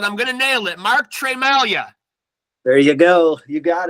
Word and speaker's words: Tremalgia: name right but I'm gonna nail it Mark Trey Malia there you go you got it you know